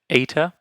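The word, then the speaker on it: ἦτα: Zeta next we have an ETA oops okay ETA so makes an a sound ah Max of theta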